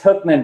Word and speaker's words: Hoekman: your last name wrong is it hookman not hoping it's hookman but that's totally fine um also know any more about it looks like Hawkman so and actually my